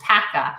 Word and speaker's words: Pacca: correctly it's and my last name is pronounced Paca like Packa lunch oh see I totally